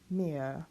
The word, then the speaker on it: mehr: then an M, then this E, remember before an H, always closed, mehr, and we won't pronounce that R at the end of the word.